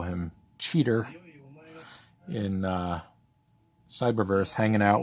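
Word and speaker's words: Cheetor: didn't remember that they called him cheater as opposed to chitor which i kind of always thought was how you pronounced it but um yeah it's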